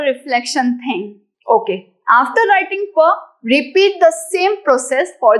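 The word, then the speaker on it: फ: So this will be pa. Don't ever call it fa. Please pronounce it properly by P-H-A. Pa. That's a true Sanskrit student.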